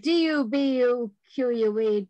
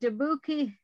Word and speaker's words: Dubuque: my trusty newspaper uh i spell it d-u-b-u-q-u-e dabuki no dubuque or dubuque is okay it has cost 58